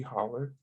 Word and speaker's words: holler: oh since in kentucky would it be sleepy holler no because we spell it that way sleepy holler road we